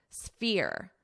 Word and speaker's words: sphere: So now I need to add the S, which can be a difficult sound combination. For your F, think about what your mouth is doing. Fear, fear. But for your S, sphere, sphere. So you're going to hear the F more. The S is going to be quite quick.